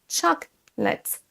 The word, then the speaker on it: chocolate: La deuxième chose, ça va être qu'il faut accentuer la première syllabe, chocolate, chocolate. Et vous entendez la prononciation de la deuxième syllabe, on ne dit pas late, mais let, let.